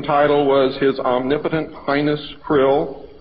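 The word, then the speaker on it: Krlll: His name and title was His Omnipotent Highness Krill, pronounced Krill, spelled K-R-L-L-L or C-R-L-L-L.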